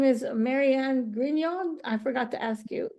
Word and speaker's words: Grignon: for you as well her name is Maryanne gon I forgot to ask you is it gon um yeah it actually is properly pronounced that way so that's fine okay I